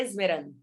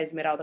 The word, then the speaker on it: Esmeralda: Foram dois processos, né, de pronunciar Esmeralda corretamente. O primeiro, enfatizando o H, e o segundo, a questão do Z, porque eles falavam E Sim. aí eu falei, gente, é es.